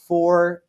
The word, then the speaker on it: Fortaleza: Fortaleza.